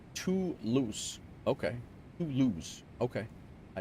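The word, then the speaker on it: Toulouse: Home of the Airbus pronounced too loose.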